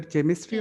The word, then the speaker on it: chemistry: Whether chemistry or chemistry? Chemistry. Chemistry. It means that this CH is the representative of the sound K.